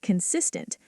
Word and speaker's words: consistent: Consistent. Consistent. Stress on cis.